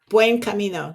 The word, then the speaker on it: Buen Camino: I didn't know how to pronounce it. Buen Camino? Buen Camino.